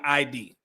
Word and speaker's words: Id: Uh, pronunciation of ID rhymes with Sid. Okay. Yeah, it it's in the book they when you download the book, they say ID.